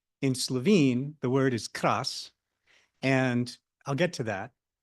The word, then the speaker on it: kras: Karst, Ved correctly pronounced in Croatian, krš. In Slovene, the word is kras, and I'll get to that.